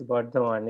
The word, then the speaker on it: Bardhaman: So I don't know how exactly it is pronounced. Yes, Bardhaman in West Bengal.